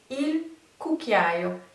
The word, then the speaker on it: cucchiaio: Il est compliqué en termes d'écriture, de prononciation du coup, c'est un coup à prendre, mais c'est il cucchiaio.